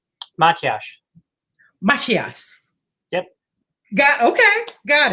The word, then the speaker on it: Matyas: can hear you correctly okay give me the pronunciation of your last name my cash yes yep got okay got it i i